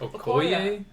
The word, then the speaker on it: Okoye: Okoye? Okay, Okoye. A what? Okoye. Okoye. I was wrong by one How'd you syllable.